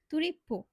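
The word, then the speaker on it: トリップ: ট্রিপকে তার জাপানিজরা বলে তুরিপ্পো। একবার চিন্তা করে দেখেন তো, কোথায় তুরিপ্পো আর কোথায় ট্রিপ?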